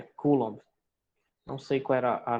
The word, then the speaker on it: Coulomb: carga elétrica é o Coulomb. Se escreve assim, né? Coulomb, mas é Coulomb.